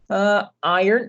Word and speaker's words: iron: Iron, gente, iron, né? Você fala iron, não tem o nessa pronúncia. Iron Man não existe.